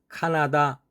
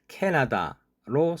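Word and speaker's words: Canada: 한국식 발음으로 카나다 나라 이름이 있습니다. 발음 기호에는 캐너더로 되어 있습니다. 그러나 실제로는 캐나다로 사용합니다.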